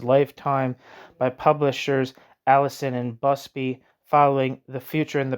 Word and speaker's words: Busby: to 1922 footnote see Margaret Bubsy me Margaret Busby Busby I was saying it wrong Margaret Busby article CLR